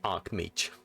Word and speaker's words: Archmage: So I was like, how do you pronounce that? Yeah, no, there is no I, it's Archmage.